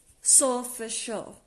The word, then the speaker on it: Solfeggio: to say sometimes, but if you think of it phonetically, it's sort of like S-O-L, and then it's F, and then it's E-G-G-I-O, and it comes out as kind of like Solfeggio. And it's actually Italian.